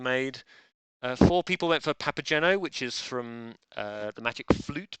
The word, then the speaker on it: Papageno: refuses is to say it's a hard G in Papageno alright fair enough /